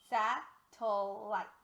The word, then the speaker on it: satellite: out syllable next syllable so sat o that syllable has a schwa so let's go ahead and take a look at that that syllable has a schwa we're going to use the e spelling alrighty now our last